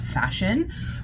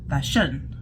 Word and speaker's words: fashion: I especially like how they pronounced fashion. Rather, when we pronounce fashion, we normally focus on the first syllable, but they were focusing on the second syllable. So fashion, FaSHioN.